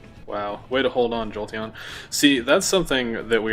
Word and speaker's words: Jolteon: Yeah, Jolteon. Exactly. I'm glad you pronounced it correctly.